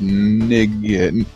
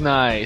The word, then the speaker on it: nigh: End is nig. Don't pronounce it. Don't do it. All right. Silent G. Silent. Everything. The world is not. The end is nigh.